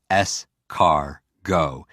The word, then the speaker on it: escargot: more s cargo what's escargot it means snail you know that for me i hear scar and i hear go or i hear s car go and it's always about